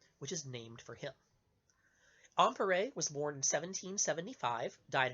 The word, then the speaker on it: Ampère: So, begin our story with a fellow whose name you've probably heard mispronounced, although you may not know that you were hearing his name at the time. A French physicist by the name of André-Marie Ampère. Andre-Marie, Ampère, A-M-P-E-R-E. You're thinking ampere, right?